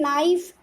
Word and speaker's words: knife: In knife, K is, we are not pronouncing K, so K is silent.